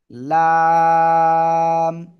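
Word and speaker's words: لام: থেকে উচ্চারণ হয় জানেন খেয়াল করতে হবে জিহ্বার আগা কিনারা জিহ্বার আগার কিনারা উপরে মাড়ির দাঁতের গোড়ার সাথে লাগিয়ে লাম লাম জিহ্বার আগার কিনারা উপরে মাটির দাঁতের গোড়ার সাথে লাগিয়ে এ অক্ষটা উচ্চারণ হবে এবং চার আলিফ টেনে পড়তে হবে ঠিক আছে লাম এবার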